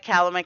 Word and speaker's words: Calumet: Oh, someone yelled at me for not saying it right, Calumet County, so I changed it.